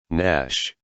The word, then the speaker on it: gnash: silent letters and advanced gn equals slash n slash nat nash campaign lesson 244